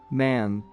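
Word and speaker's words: मैं: the throat of man man pronounced nasally in hindustani means I people asked the dervish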